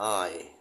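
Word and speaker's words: eye: อยู่ อยู่ ติด กัน แต่ ว่า อ่าน ว่า I ถูก ม ซึ่ง ก็ แปล ว่า ตา นั่น เอง ตา หรือ ดวง ตา ของ เรา เนี่ย อวัยวะ เนี่ย คำ นี้ อ่าน ว่า I ไม่ ใช่ E ไม่ ใช่ a ไม่ เหมือน กับ ที่ ผ่าน มา เลย เพราะ ฉะนั้น เวลา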